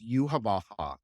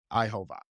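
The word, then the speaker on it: Yhwach: So it's Yuhavaha is how they pronounce it in the dub. But obviously it's Ihova.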